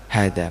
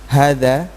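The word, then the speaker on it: هذا: Hadza meskipun tidak ditulis seperti ini. Jadi hadza meskipun tidak ditulis seperti ini tapi bacanya tetap panjang.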